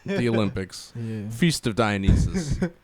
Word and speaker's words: Dionysus: But yeah, how do you guys feel about Dionysus.